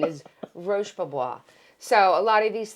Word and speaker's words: Roche Bobois: And I said, yeah, they're Roachy Boy. And if I tell you that this man Did he fall over? I thought he was having a heart attack. He literally, I was like, are you okay? I was like, do you need some water? He was like, it's Roche Bobois.